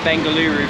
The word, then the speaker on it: Bengaluru: I should call it Bengaluru from now on really it is an extra syllable so the difference from